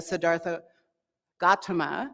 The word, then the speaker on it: Siddhartha Gautama: tonight is the nature of the historic Buddha Siddhartha Gautama which I learned today is the actual pronunciation um of his Awakening and one of